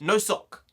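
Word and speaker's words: носок: 208 fact number two the Russian word for sock is pronounced no sock you know who would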